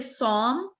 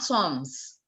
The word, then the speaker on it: sommes: You don't have to pronounce the consonants that come in the end.